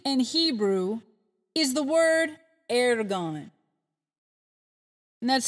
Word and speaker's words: ergon: The word work, write it down please, in Greek and Hebrew is the word ergon. And that's spelled E-R-G-O-N, ergon.